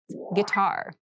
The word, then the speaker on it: guitar: Guitar. Guitar. Guitar. This word has kind of an interesting spelling. It starts with gui, but we pronounce this as G.